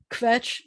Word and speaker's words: kvetch: and by the way yiddish is one of the few languages that uses three uh consonants together a lot so kvetch where the cha isn't much of a that's really just two sounds together schlep is when we're